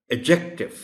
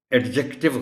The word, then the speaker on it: adjective: इस वर्ड में D silent है और इसको बोला जाएगा एडजेक्टिव। एडजेक्टिव गलत होगा।